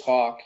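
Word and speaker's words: Hak: well so it so my name's Hawk and that's how it's pronounced but it's actually h a k it's like I guess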